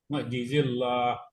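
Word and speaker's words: معجزي الله: I ee ini mukjizillah ini jangan ditebelin ya bacanya. Bukan mukjizillah. Mukjizillah. Mukzil kafirin. Iya. Enggak tebal. Enggak tebal. I kalau tebal baru tebal. Lam di atas. Mukjizillah. Mukjizillahi. Enggak usah tebal.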